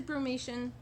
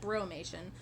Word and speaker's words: brumation: What is brumation? Brumation, not bromation. What is brumation and what isn't it? It's not bromation. That is not how you pronounce it.